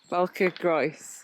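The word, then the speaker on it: Bwlch y Groes: So Sarah, who is actually Welsh, to pronounce that, how do you say it? Balcagroes. Balcagroes.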